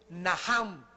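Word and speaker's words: נחם: La primera palabra que se usó en el Antiguo Testamento es naham. En el hebreo que se escribe nach. La ch en el hebreo se pronuncia como J y significa cambiar la manera de pensar.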